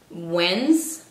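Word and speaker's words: Wednesday: no es Whitney es wends se pronuncia de esta manera hasta con una Zeta en medio otra palabra sería caminar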